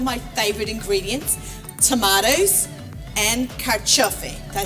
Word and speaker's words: carciofi: So I love Italian food, and we're going to make something today with two of my favorite ingredients, tomatoes and carciofi.